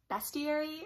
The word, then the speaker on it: bestiary: quick while i'm editing i know that i probably pronounced the title of this book wrong bestiary seems to be how it's more pronounced but also in the